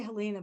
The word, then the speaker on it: Helena: How do you say it, dear? I say Helena, but I answer to anything anymore.